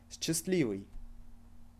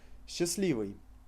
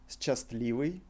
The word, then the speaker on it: счастливый: Счастливый. Can you hear the way I'm pronouncing it? Счастливый. This is the way we would read this word. However, Russians pronounce it счастливый. We replace s-cha with sh, счастливый.